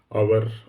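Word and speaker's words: hour: C question number five words beginning with A silent letter H require friend जैसे आवर owner ये जो words है सभी में जो एच है वो साइलेंट रहता है और एस के बाद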